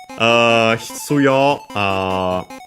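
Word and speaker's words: 必要: Hitsuyo, Chinese compound, should be unaccented. Yes, it is.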